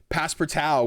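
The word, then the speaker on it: Passpartout: been playing this one I'm playing pass peral which is spelled like past part out uh to on my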